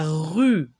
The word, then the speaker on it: rue: U, U, il faut bien prononcer le U. U, U, la rue, le E là, on ne le prononce pas.